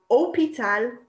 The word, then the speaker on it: hôpital: word for hospital is hôpital. It starts with an H, but you can't hear it. Okay, so H is considered a lot like a vowel just because they don't pronounce it.